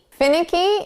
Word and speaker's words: finicky: Finicky is probably a new word in your vocabulary, so let's focus on the sounds. Fin, ick, e. Now, we're going to put the syllable stress on the first sound.